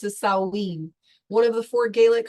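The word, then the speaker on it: Samhain: sin is a Gaelic word that means sumran pronounced as saen one of the four Gaelic Harvest festivals marking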